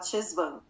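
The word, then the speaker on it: Cheshvan: Tô falando certo, é porque tem uma pronúncia que fala shesvan. Eh, chesaman, né? Shesvan, shesma, mas a gente fala shesan, shesma mesmo, entendeu? Porque nós somos brasileiros.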